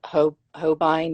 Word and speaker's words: Holbein: It's Holbein, is that how you say it?